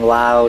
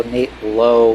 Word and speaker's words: Lowe: the best in the Brandon Lao Nate Lowe Brandon Lowe Nate plow oh yeah that that is part of the discussion uh different pronunciations and the best part is is there is Nate Lowe and there's also he has a brother Josh Lowe who is also in the raised minor league system so they've got three lows in two different pronunciations 2-0 too loud not